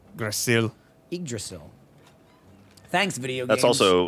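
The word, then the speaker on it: Yggdrasil: the wall it was idrasil the Tree of Life idril the Y is silent Jeremy it's spelled y g g d r a s i l Grail igdrasil thanks video games that's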